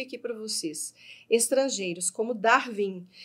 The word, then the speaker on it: Darwin: Nomes de pessoas, já coloquei aqui para vocês, estrangeiros como Darwin. Reparem que o W aqui, ó, é pronunciado com U, tá bom?